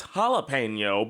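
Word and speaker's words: jalapeño: Did you Does she pronounce it as jalapeno? It's jalapeno.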